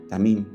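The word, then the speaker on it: תֻּמִּים: Y una característica de la tierra es la integridad, tamim, palabra que se escribe como tumim, de la raíz tam, íntegro, pero también perfecto, de ahí la perfección de sus palabras.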